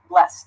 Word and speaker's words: blessed: Rea on Facebook asks how about blessed blessed it sounds when I say it blessed it sounds like a little bit of a tease out not bless it